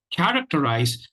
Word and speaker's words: characterize: the word for today characterize and the the the the stress of the stresses on the first syllable that is the primary stress syllable the other three syllables are unstressed just before leaving I